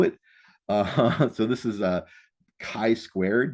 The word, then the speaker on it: chi: So this is a kai squared. This is actually a Greek letter x pronounced kai. So you may hear people talk about a ki squared test or a ki squared calculation.